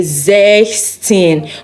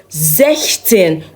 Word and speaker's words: sechzehn: But then, you would not say sechzehn, but sechzehn without the S, without the last S in sechs. So, sechzehn.